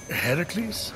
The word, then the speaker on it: Heracles: are you doing there that thing with your voice heracles yeah that that is how it's supposed to be pronounced seems like a lot